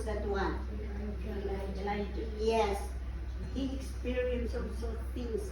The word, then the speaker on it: Elijah: But if you read the life of Elijah, how do you pronounce that one? Elijah.